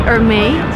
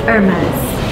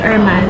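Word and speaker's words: Hermès: It's Hermes. Hermes, yes. So you actually pronounce the last. It's a French brand, so you don't pronounce the H. It's Hermes.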